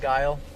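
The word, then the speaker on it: Geil: It's G-E-I-L, but it's pronounced kind of like that, though, huh? Like Guile.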